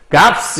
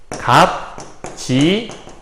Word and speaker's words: 값지게: 자, 발음에서 두 개가 왔을 때 발음할 수 있을까요? 값스 이렇게 발음할 수 있을까요? 값스라고 발음하기 쉽지 않아요. 그죠? 자, 그럴 경우에는 하나만 발음하게 돼 있단 말이에요. 비읍, 시읒은 앞에 있는 비읍으로 발음하게 돼 있어요. 그러면 첫 번째는 값지게 이렇게 발음할 수 있겠네요.